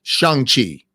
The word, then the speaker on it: Shang-Chi: So it's Shang-Chi.